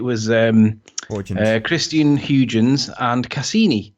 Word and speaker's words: Cassini: Christian Huygens and Cassini, who you pronounced Cassina.